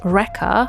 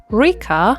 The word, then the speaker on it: Reka: It's spelled r e k a, and most people pronounce it as Reka or Rika. It is Reka, and I'm also saying it in such a weird accent.